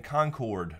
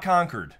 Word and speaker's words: Concord: to us now in Concord, North Carolina. Not Concord. Not Concord. It's not Concord. Spelled the same. Yes, but I know people on the West Coast like to say Concord. I flew out to Concord,